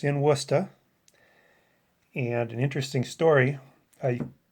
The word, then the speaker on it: Worcester: from pawtucket rhode island if you look at the name of the team it looks like warcester so when that announcement